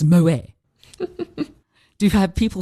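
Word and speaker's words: Moët: It's Moet. Do you have people saying, oh no, you've pronounced that completely wrong?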